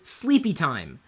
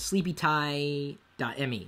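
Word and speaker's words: sleepyti.me: you should sleep is sleepy time it's spelled sleepy time only it's a me at the end it's not a do com it's sleepy Tai me sleepy time uh and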